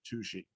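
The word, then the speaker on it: Touchet: walla called uh well it's spelled like touche but they pronounce it toushi i always love that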